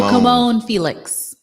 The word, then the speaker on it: Camonghne: Kimon Felix. Kimon Felix. Yeah. But her name is spelled, I should spell it because you Yeah.